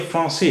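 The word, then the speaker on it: français: लेकिन जब इसके नीचे सी के नीचे ये निशान है। यानी से दिल है। तो इसका तलफुस हमेशा सा होगा। का कभी नहीं होगा। इसलिए ये फ्रांसी है।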